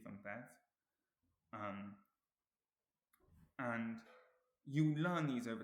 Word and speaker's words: bev: So for example, some examples of this are aunt, arth, near, also Now, the correct pronunciation of these words is Heath and Bev, which I didn't get quite right in the video.